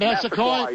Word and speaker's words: Massaquoi: Okay, and Georgia's Mohamed Mascoy, is that how you pronounce it? Mascoy, yeah, right?